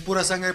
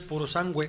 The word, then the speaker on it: Purosangue: llama Ferrari pura sangue creo que es pura sangue pero es purosangue así se pronuncia en italiano creo que y es